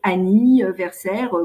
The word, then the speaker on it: anniversaire: Un anniversaire, effectivement, on a là quelque chose qui est inhabituel puisque le an là se prononce avec anniversaire comme dans année, donc ça se prononce pas, il n'y a pas un graphème an.